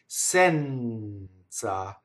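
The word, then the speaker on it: senza: Sɛnza. Notice the N doubling into the TZ, touching a consonant. The E is open.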